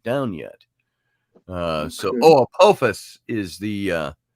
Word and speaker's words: Apophis: hasn't taken it down yet uh so oh apophis is the uh apophis however you pronounce the o is the asteroid says audrey